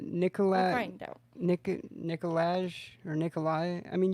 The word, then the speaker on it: Nikolaj: I mean, you would think Nikolai, but it ends with a J. Is that still pronounced Nikolai? If it ends with a J? It could be. The J could be silent.